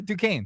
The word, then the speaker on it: Duquesne: people or making calls Duquesne D Carlin how many times seriously how do you say it you're right yeah du Kane to K it's in Pittsburgh say